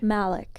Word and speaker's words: Majlak: His last name's always really confusing because everyone says it's super I different. think the J is silent. We've come to Silent. that conclusion. Mike Majlak.